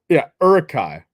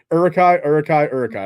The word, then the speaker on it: Uruk-hai: So it's Uruk-hai. Yeah. All right. So Uruk-hai.